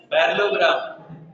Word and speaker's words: पैरेललोग्राम: पैरेललोग्राम नहीं होता है, पैरेललोग्राम। पैरेललोग्राम एल साइलेंट, ठीक है, पैरेललोग्राम।